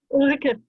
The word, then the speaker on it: Ulrike: How do you pronounce your name? Ulrike.